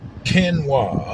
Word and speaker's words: quinoa: I got to remember how to pronounce this now. Q now, key now. Quinow. Yeah, they got quinoa.